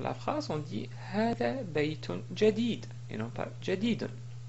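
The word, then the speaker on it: بيت: Par exemple, ce mot ici se prononce baytun, mais on peut le prononcer d'une manière simple en disant bayt. Donc on n'écrit pas comme ça, mais on dit bayt. Donc c'est juste pour marquer qu'on prononce de cette façon-là.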